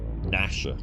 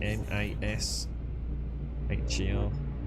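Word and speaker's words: Gnasher: Is it called Nasher? I think it was spelled with a G though, wasn't it? G N A S H E R.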